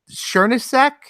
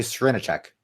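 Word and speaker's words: Srnicek: people like Nick Nick sureness sack is that as al you pronounce his name I want capitalism I only met him one time but I think you say Serena check Serena check okay yeah I I think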